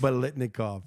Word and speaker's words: Biletnikoff: Biletnikoff.